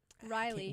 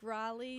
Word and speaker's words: Raleigh: First up in the American League, Kar Cowari Riley Riley. I can't say his name. It's Kale. Yeah. Cow. Oh my god. Like Raleigh.